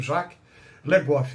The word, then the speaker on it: Jacques Le Goff: O historiador medievalista francês Jacques, J-A-C-Q-U-E-S, escreve Jacques, mas eles pronunciam Jacques Le Goff, L-E espaço Goff, G-O-F-F.